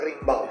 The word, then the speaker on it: Rimbaud: Se escribe como Rimbaud, pero es Rimbaud.